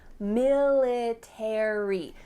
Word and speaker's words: military: Well, in this case, ARY at the end of words is gonna indicate that in American English, we're gonna pronounce the full word. Library, secretary, military.